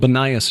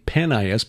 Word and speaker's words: Banias: Jud Burton did his doctoral dissertation on the religious history of Banias called Banias now because of the Arabic pronunciation of the P vowel, formerly Panas because of the Greek god Pan.